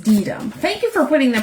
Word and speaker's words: Deedum: Pronounced Deedum.